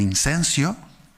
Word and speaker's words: incenso: El incenso. Que usted me dirá, Jacob está pronunciando mal, no es incenso, es incienso. No, es incenso, ¿vale?